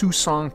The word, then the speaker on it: Siouxon: are exploring today is I'm not exactly sure how to pronounce it I believe it's suzong Creek and we spent several